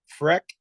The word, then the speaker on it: Frech: place to go see it is on Instagram, Freck Studios. That's spelled FRECH Studios, STUDIOS.